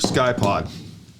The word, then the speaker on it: Ckye-Pod: all right so the first one that we're going to cover is the mdt sky pod it's spelled with a c i don't know what